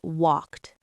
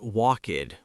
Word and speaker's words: walked: Sometimes it sounds like a t like in the word walked, right? It's not walkid with two syllables.